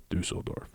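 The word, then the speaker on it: Düsseldorf: had been playing like you said for dusseldorf du soldorf dusseldorf yeah that's how you pronounce that anyways um been playing for them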